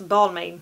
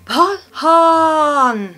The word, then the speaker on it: Balmain: Tycker jag ska uttalas Balmain. Balmain. Men nej, det uttalas så här, mina vänner. Balhan. Balmain uttalas alltså Balm. Så varför man tar med M och I har jag ingen aning om.